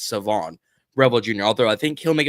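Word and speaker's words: Shavon Revel Jr.: It's Savon Revel Jr., not Siobhan. The H is silent. It's Savon Revel Jr., although I think he'll make it a little farther because of his injury.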